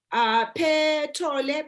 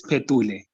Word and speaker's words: Petule: Petole, please go ahead. I hope I've pronounced your name correct. It's Petule.